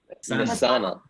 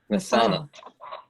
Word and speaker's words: Nasanel: Just make sure you get that emphasis on the second syllable. Nasanel. Nasanel.